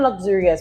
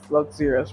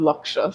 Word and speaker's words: Locsurious: So, for one, everybody kind of pronounces this luxurious wrong. Oh my bad. Because it's it's spelled L O C S. Yeah. U R I O UF, right? And it's not luxurious.